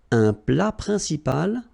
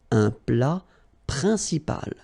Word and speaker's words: plat principal: entrée, une entrée, then un plat principal, final T here, not pronounced, un plat principal, en, remember, it's nasal,